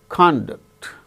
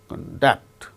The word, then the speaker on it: conduct: are used as verbs for instance conduct conduct the first syllable gains stress when it is used as noun conduct but it is used as verb conduct examinations are conducted okay